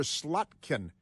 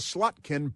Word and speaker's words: Slotkin: And Martha Ratitz was there with Democrat Senator Slutkin. You know, you know her. She is uh No, got to No, it's Slotkin pronounced Slotkin.